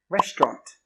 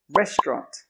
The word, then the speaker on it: restaurant: This word doesn't have 4 syllables. It doesn't even have 3 syllables. It has 2 syllables. Restaurant. Restaurant.